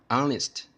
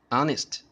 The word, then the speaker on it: honest: word actually hello tech we don't pronounce the letter H so the pronunciation should be ah ah honest honest okay so the answer of it is n an honest person an honest person so